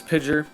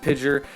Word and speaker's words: PGYER: I'm going to pronounce it as Pidger, however you want to